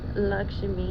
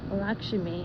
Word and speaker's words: Lakshmi: Okay, Lakshmi, and the pronunciation for this is Lak as in L-O-C-K, and then dash, Shimi as in S-C-H-M-E-E.